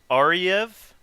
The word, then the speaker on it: Ariew: up poison so yeah my name like you said is ariev which is a weird one in itself because it's spelled a-r-i-e-w but the w sounds like a v and yeah i'm a